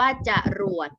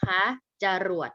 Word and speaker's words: จรวด: โลมา ความ เร็ว สูง อ่าน ว่า จรวด นะ คะ จรวด นะ ลูก นะ อ่ะ คน ร้าย